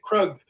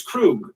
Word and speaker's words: Krug: I was pronouncing it Krug, but it's Krug.